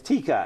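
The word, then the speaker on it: Taika: and he said, well, think of tiger. But now you're going to take the ER off, and you're going to make an A, and you're going to stick an A, and it's Tika.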